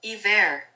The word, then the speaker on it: hiver: Hiver. Hiver. That's how you say it, hiver, and it means winter.